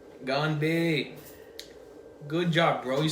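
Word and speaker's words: 干杯: Gone. Like when someone goes, they're gone. Gone. Gonbei.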